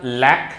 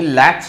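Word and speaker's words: latch: यानी अगर आपके पास सोचो कि वर्ड है एल ए टी सी एच, तो इसका उच्चारण लैक नहीं लैच है, तो इसमें चे साउंड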